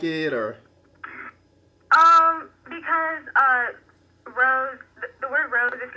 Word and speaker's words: RoZe: And how is that pronounced? Rose.